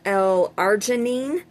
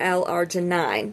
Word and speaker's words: L-arginine: It's pronounced either L-arginine or L-arginine, depending on where you live, from what I had researched, depending on, it's like the word kalanchoe.